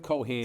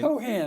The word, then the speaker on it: Keohan: Bill, we go with Keohan. Keohan, okay.